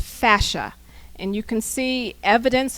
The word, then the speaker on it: fascia: technique which emphasizes this photo this is C pronounced fascia and you can see evidence of fascia all